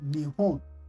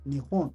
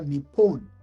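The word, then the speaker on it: 日本: Japan in Japanese is pronounced or is called nion. Nhon or nepon.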